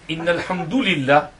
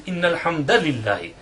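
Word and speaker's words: إن الحمد لله: So the correct pronunciation is Innal Hamdalillah, with nasb and fatha on Alhamdulillah.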